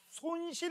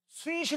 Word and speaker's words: 손실: 발음 조심하세요. 손실 에너지야. 어 순실 에너지 아니야.